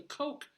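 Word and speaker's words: Koch: mispronouncing it of course it's the coch the because it's like the coch brothers who financed it uh at Lincoln Center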